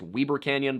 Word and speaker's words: Weber Canyon: This is because they had just come to Weber Canyon, which I'm also told is pronounced Weber Canyon by people there, and this canyon had presented problems for the Harlan Young wagons.